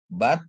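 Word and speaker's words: בת: Terus untuk bet dikasih pata ya ditambah tab tanpa nikut dia bacanya jadi but ya. Bat yang artinya anak perempuan ya.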